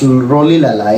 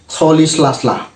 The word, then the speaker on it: Rolihlahla: Okay, so first of all, his middle name, Mandela's middle name, is not pronounced Rolihlahla. It's pronounced Rolihlahla.